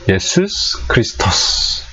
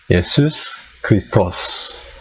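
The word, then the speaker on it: Ἰησοῦς Χριστός: 정확하게 발음하면 예수스 크리스토스, 이게 정확한 발음이에요. 물론 제가 그리스 사람이 아니고 모국어가 아니니까 정확하게 발음이 아닐 수도 있지만, 어쨌든 헬라어로 원래 발음이 예수스 크리스토스, 이게 원래 발음입니다.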